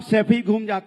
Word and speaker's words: सैफई: आनंद, गरीबी देखनी है ना तो सफाई में जाके देखिए, 500-600 करोड़। सैफई तो बोलना सीख जाओ, सफाई नहीं है, सैफई है।